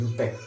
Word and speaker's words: IUPAC: है ना, ये IUPAC का फुल फॉर्म होता है, international union of pure and applied chemistry, और IUPAC को प्रोनाउंस करते हैं यूपेक।